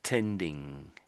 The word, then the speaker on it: tending: So So as I as I always say, it's not an N sound and it's not a G sound. You're not saying you're not meant to be saying N and G. When you see these two letters together, pretty much anywhere in a word, you're making a one one sound. Not two sounds, but one sound. It's this um nasal sound. If I try and say it now.